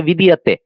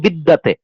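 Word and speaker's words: বিদ্যতে: করবো তখন কি হবে, বিদিয়াতে। নান্যপন্থা বিদিয়াতে আয়নায়, নান্যপন্থা বিদিয়াতে আয়নায়। আমরা বাংলা উচ্চারণ করার সময় বলি বিদ্যাতে, কিন্তু সংস্কৃত উচ্চারণের সময় কি হচ্ছে, নান্যপন্থা বিদিয়াতে আয়নায়।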